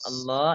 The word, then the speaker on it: Allah: huruf sebelumnya love zuljalal a lafadz Allah itu lemnya dibaca tebal ya Lo lo dibaca tebal